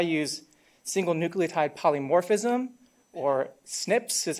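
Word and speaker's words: SNP: do is I use single nucleotide polymorphism or Snips is how we just pronounce it Snips and this is a way where we can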